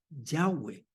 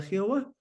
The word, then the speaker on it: Yahweh: buena traducción que la la mejor manera de pronunciar el tétarama era Yahweh Así que nuestra versión 60 tiene todavía Jehová pero lo más cercano es Yahweh bueno por los judíos